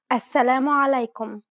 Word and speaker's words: السلام عليكم: السلام عليكم. Did you pronounce this greeting correctly? Be mindful about the throaty sound in this common greeting.